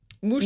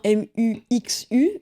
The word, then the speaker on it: Muxu: Et ça s'écrit effectivement M-U-X-U, mais ça se dit pas muxu, ça se dit mouchou.